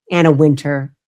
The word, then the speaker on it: Wintour: And the woman who has been at the helm of Vogue magazine, her name is Anna Wintour. Anna Winter, depending how you want to pronounce it.